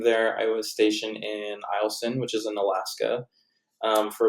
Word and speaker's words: Eielson: we have Eielson.